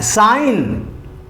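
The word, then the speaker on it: sign: लिया डिजाइन के बाद अब साइन एस आई जी एन साइन पढ़ते हैं इसको हम एन से पहले जी है जी साइलेंट है उसके बाद है रेन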